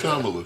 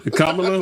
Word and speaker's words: Kamala: That so tied up into into money and It's Kamala. Kamla. What did I say? Kamala. Kamala. Like the wrestlers Kamala.